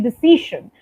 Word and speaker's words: decision: with decision right so the C and the S sound yeah so it should be decision like people who take audacious